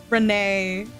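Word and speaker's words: Rean: Like it took me a little bit to get um Renee back to Ren after somebody told me that it was pronounced Ren because I totally was just saying Renee.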